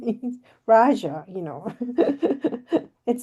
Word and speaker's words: Rajaa: Raja I'm Raja okay in Arabic it's called Raja but since in English or Hebrew you don't have the ah at the end ra it's very difficult to pronounce it so I say raja but anyway my um